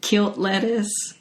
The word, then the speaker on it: killed lettuce: heard of i think people usually would pronounce it kilt lettuce like it's killed lettuce k-i-l-l-e-d but it sounds like killed never heard about no